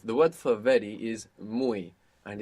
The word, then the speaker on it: muy: The word for very is muy, and it's spelled M-U-Y. The Y, you can imagine it like an I.